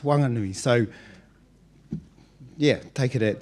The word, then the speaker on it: Whanganui: I would like also just to mention Whanganui is spelt WH in written Māori, but in the local dialect it's pronounced Wanganui.